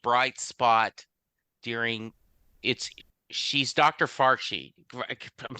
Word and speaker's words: Fauci: Fauci. I'm saying the name wrong. During COVID. You know, there is this bright spot. Fauci.